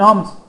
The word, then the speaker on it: ohm: La resistencia se mide en ohms, así se pronuncia ohm, que es este redondito.